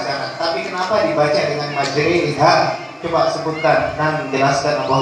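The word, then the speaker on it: مجراها: Tapi kenapa dibaca dengan majriha? Coba sebutkan dan jelaskan apa hukumnya. Imalah itu adalah memirikan antara harokat fathah dan kasroh. Jadi bacanya condong miring dari harokat fathah ke harokat kasroh, atau seolah-olah dibaca Imalahnya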